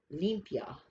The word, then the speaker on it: limpia: say it if you're going to pronounce it pronounce it limpia olympia okay and it comes from mexico and